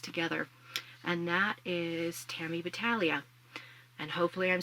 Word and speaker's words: Battaglia: And that is Tammy Battalia. And hopefully I'm saying her name right. I've heard that the G is silent.